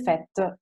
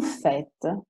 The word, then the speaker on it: fête: Ma qui no, vedete, fête finisce con una E muta, eccetera, eccetera.